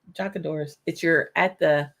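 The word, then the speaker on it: deoch an doras: It kind of rhymes with Jack and Doris or something like Jacadores.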